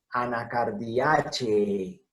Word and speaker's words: Anacardiaceae: Anacardiaceae. ¿Por qué Anacardiaceae? Termina en un diptongo E, antecedido por una E que forma la sílaba che. Entonces, en latín tiene que sonar absolutamente todo.